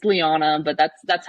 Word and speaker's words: Leana: and it's they're like What's your name Leah no it's it's Liana but that's that's how